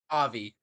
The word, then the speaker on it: Avi: you pronounce that character Avi Javi like Navi both at the end that's a good way